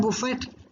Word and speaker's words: Buffett: Warren बुफे, WARREN BUFFET. T is silent.